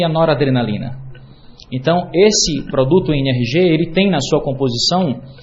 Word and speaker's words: NRG: NRG a as letras n r g se a gente pronunciar em Inglês fica n r g que é exatamente a pronúncia da palavra em inglês energia então ele é um